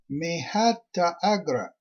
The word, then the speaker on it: Mahata Agra: Tribe 7, Mahata Agra, pronounced Mehata Agra.